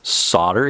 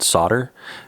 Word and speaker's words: solder: That 2.5 driver tool, solder here, or solder, whatever country you're in. In the US, we call it solder. If you're in the UK, might be calling it solder, pronouncing the L.